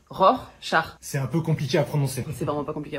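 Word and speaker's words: Rorschach: Non, vous avez dit rose, char. Je je veux pas le savoir mais on dit ror, char.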